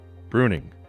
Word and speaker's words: Bruyning: festival in january of 2020 karen rose founded pronounced bruning a solo production company which debuted with ship